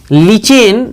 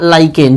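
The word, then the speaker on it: lichen: जो थैलोफाइटा समूह के लिचेन या लाइकेन, जो कहना हो कह लेना, प्रोनाउंसिएशन उच्चारण जो तुमको समझ में आए वो कह लेना, लिचेन या लाइकेन नामक पौधे से निकाला जाता है।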